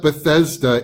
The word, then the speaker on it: Bethesda: of different ways however we do know that Bethesda is the proper way to write and pronounce the name of this pool and actually